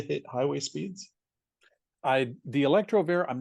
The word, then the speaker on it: Electrovair: uh I I want to say it correctly electrovair is did I say it right the electrovair yes yeah so it's like a Corvair a